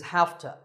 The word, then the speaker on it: have to: you number three is hafta this is a reduction of half to we say hafta because it's easier to say that way I have to go